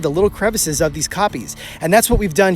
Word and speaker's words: kopje: They occur in large groups in what they call in South African a kopje, which is spelled K-O-P-J-E, and it is South African for